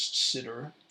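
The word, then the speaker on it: Sidr: have seen mainly from the expert vid master known as sitter that's indeed how you pronounce it spelled s-i-d-r use that kind of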